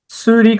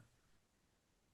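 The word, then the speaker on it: Zürich: নেই সুরি সুইরিশ সুইরিশ এটার উচ্চারণ হলো সুইরিশ সুইখ বলতে পারেন কারণ আমরা বলছিলাম যে এই যে ইশ ইসকে ইখ বলে জার্মানের অনেক ভাষায় ইখ বলতে পারবেন ইস্যু বলতে পারবেন এটাকে আমরা সুইরিশ অথবা সুরি দুইটাই উচ্চারণ করতে পারবো গুড কায়া হুন্ডা থাউজেন্ড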